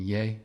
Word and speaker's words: Ye: said it's pronouncing yay not Yi I said why are